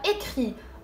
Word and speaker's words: écrit: le participe passé هو écrit avec IT ولكن لا نطق T.